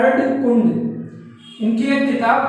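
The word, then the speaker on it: Erdkunde: अर्धकुंड इनकी एक किताब थी जिसका नाम है अर्धकुंडे, नॉट कुंड, अर्धकुंडे। ठीक है, ये इनकी किताब थी, तो प्लीज आप इसको भी नोट कर लीजिए।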